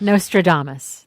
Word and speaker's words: Nostradamus: Apple pen as no can't say it right Nostradamus thank you no no not as nostram the